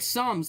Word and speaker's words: Psalms: This is just, Make it like Psalms, the P is silent.